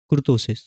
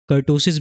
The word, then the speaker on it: kurtosis: First topic है आपका skewness and second topic है आपका कुर्तोसिस। कुर्तोसिस को आप कर्टोसिस भी कह सकते हैं, इसके दोनों प्रोनाउंसिएशन एकदम सही हैं।